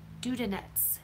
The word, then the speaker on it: Dudonets: Dudonets. Dudonets. Dudonets. Dudonets. Okay. Makes sense. See, I would have said dud, not dude.